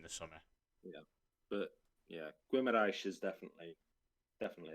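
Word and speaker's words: Guimarães: summer yeah but yeah guimaraesh is definitely definitely it's a mirage there we go yeah yeah um it's like it's like it's like you say it with a w after the g and that's how you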